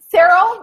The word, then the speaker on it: Cyril: Cyril, rhymes with Farrell.